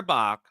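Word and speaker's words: Bajc: Sarah Bach, B-A-J-C. I'm going to pronounce it Bach until I hear a better pronunciation.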